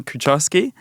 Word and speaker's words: Kucharski: And here today we have Kucharski. So how are you? I'm great, and you pronounce my surname really well.